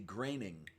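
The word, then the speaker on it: Groening: he says it um allegedly it would be graining and yeah I'm looking at the name and I'm I'm thinking in German is what I'm thinking of where the OE is pronounced like well I mean no part of me ever would have thought uh to say graining from those letters I know but at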